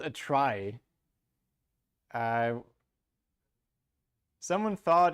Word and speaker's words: trie: in computer science so let's just pronounce it try but stick to t-r-i-e good idea I don't